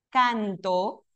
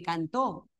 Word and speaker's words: cantó: Yo sé, por ejemplo, que no es lo mismo decir canto que cantó. Sí, el acento aquí en la penúltima y el acento en la última.